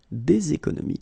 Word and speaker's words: des économies: Faire des économies, and then we'll make the liaison here, des économies.